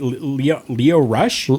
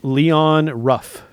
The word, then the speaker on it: Leon Ruff: Leo Rush? Leon Ruff.